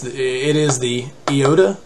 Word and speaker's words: iota: pronunciation it's an iota much like the proper e sound in english uh the upsilon you